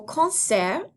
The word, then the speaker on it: concert: cinéma, au cinéma, au concert, au concert, and keep in mind that T at the end of concert is silent.